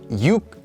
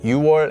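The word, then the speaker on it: 유월: October are actually U and shiar so not yuk or ship but yuar and shiar but even even more common than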